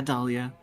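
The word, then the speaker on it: Dahlia: My name has a silent H in it. Uh, yeah, Dalia. It's after the A and before the Leah.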